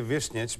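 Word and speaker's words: Višnjić: saying it correctly Goron vishnik that's pretty close what's the actual way to say it uh I would say vishnich but it should be snitch it's good yeah it's good Goran vishnich that's good okay that made it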